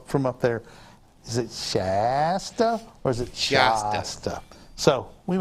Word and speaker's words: Shasta: He says Shasta like he's from not around here. So the chief operating officer of the company, Robert Price, says Shasta.